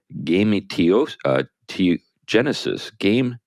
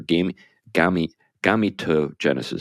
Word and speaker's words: gametogenesis: Krysilov, who is gay, says the technology known as in vitro gametogenesis, I think that's how it's pronounced, or gametogenesis, that's probably how it's pronounced, gametogenesis, or IVG, could also help male couples have biological children without anyone else's genes.